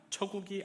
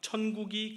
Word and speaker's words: 천국: 처국이 아니고 천국입니다. 회개하라. 천국이 가까이 왔느니라.